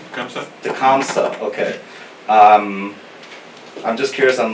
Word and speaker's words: Tecumseh: person's name, Talamuke? Did I pronounce his name right? Tecumseh. Comes up? Tecumseh, okay.